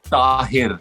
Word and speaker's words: Tahir: I like your pronunciation. So it's like a Taapsee. And Taapsee, mine is Tahir.